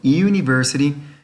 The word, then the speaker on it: university: U, por ejemplo, university no inicia con el sonido de una sola vocal, es la unión de dos vocales, el sonido.